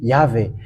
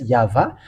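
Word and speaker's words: יהוה: because Jews has called him have called him yava that's what I have just told you and have taught you but Roman Catholic has just changed it into yve that's why it is wrong it hasn't it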